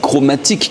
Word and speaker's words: Chromatique: Donc la brasserie s'appelle Brasserie Chromatique, comme ça se prononce. Il n'y a pas de K ou de trucs à la fin. Chromatique en français.